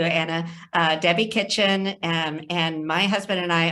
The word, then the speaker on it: Kitchen: Our next panelist is Debbie Kitchen. Is that how you pronounce it? Yes, thank you, Anna. Debbie Kitchen, and my husband and I own Interworks General Contractors.